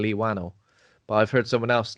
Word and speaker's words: Whannell: Whannell sounds like Cockney slang for flannel.